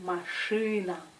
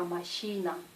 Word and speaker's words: машина: C'est машина, машина. C'est pas machina, machina.